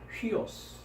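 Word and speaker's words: υἱός: 위라는 발음인데 순표가 붙었기 때문에 위라고 하지 않고 어떻게 될 것 같습니까? 예, 그렇습니다. 휘라고 합니다. 그래서 오미크론 시그마니까 휘오스. 네, 휘오스라고 발음을 합니다.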